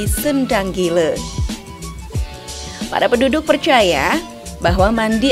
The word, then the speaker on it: Sendang Gile: Penduduk kampung setempat menyebutnya Singa Gila atau dengan sebutan Sengang Gile. Namun, lambat laun pelafalan tersebut menjadi Sendang Gile.